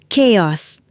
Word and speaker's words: chaos: Jangan dibaca os bunyinya chaos.